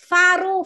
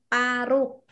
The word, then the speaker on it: paru: Pa pa bật hơi pa. Còn khi mà các bạn đọc là ba baru thì khác. Baru baru tào hôn baru là năm mới, còn cái này là paru không phải là faru.